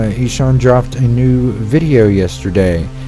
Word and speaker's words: Ihsahn: have named my cat after the one the only Deshawn apparently he son dropped a new video